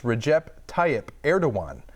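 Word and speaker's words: Recep Tayyip Erdoğan: Recep Tayyip Erdogan. Close on the last one, Kinda Erdogan. close. So it's Recep. Let's see if I can even get it. It's Recep Tayyip Erdogan, which you look.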